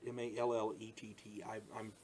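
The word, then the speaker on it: Mallett: Ronald Mallet, M-A-L-L-E-T-T. I think you pronounce it Mallet, but don't quote me.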